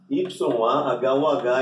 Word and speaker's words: Yahuh: Yahu, ou seja, YAHUH é a transliteração oficial e internacional, tá bom? E para entender, se pronuncia assim, I-A-R-R-U, certo? Yahu.